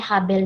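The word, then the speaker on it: הבל: kita lihat ini Habel dalam bahasa ibraninya juga Habel cara membacanya Habel juga ini adalah kata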